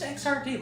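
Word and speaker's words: Xrd: not you don't just it's not an acronym it is not an acronym but um yeah there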